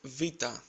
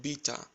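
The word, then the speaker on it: βήτα: Next is vita. You must have heard it like beta or beta. Replace the letter B with V and try to say vita.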